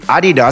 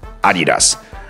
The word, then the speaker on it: Adidas: Everybody says Adidas, except for the American pronunciation would be Adidas. Well, which one is the correct version? The correct version would be Adidas, since it's a German brand, and in German it would be pronounced Adidas.